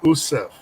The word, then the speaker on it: Yusuf: His name is Erwin Yusuf, but he pronounces his name Erwin Usuf.